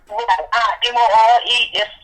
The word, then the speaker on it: emu: the emerald the emerald Emerald Oil right guys e mu SP it's pronounced em em o oh emu okay you